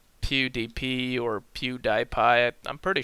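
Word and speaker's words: PewDiePie: sure like PDP or Pew dipi I'm pretty sure it's Pew dipi because p e w d i e p i e is PE dipi not PDP but um oh well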